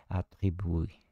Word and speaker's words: attribue: nature fondamentale qu'il lui attribue. Attribue, aqui é o particípio passado de atribuir na forma feminina, né? Boa, valeu. Diz que tem o E ali, mas ele é mudo, atribuir.